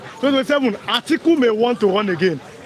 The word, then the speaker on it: Atiku: I they mispronounce him. Sometimes I call him Akitu. No, listen. Atiku.